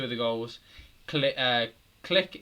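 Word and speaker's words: Klich: the goals click uh click it's like he's pronounced click it's no glitch i don't know and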